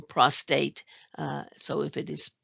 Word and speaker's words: prostate: the term and so note that there isn't an r in prostate so if it is